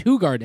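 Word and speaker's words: Hoegaarden: something like hug Garden it's hug Garden it's not hoard it's not [ __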